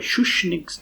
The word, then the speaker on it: Schuschnigg's: However, Schuschnigg's Schuschnigg's, I was mispronouncing that brutally. Schuschnigg's statement appeared to suggest that Austria is open